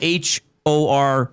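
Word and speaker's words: Horcica: Cuz it's spelled H O R C I C A. Yeah. But it's hor.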